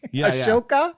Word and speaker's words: Ahsoka: a sokatana how do you say it right ashoka he said yeah so he's kind of resisting